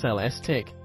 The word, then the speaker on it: Celestiq: to order by hand celestic pronounced cell stic production will necessarily be